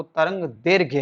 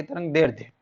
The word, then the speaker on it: तरंगदैर्घ्य: गुस्सा problem station है सही उच्चारण वह तरंगदैर्घ्य है ना कि तरंगदैर्ध्य तो तरंगदैर्घ्य का मतलब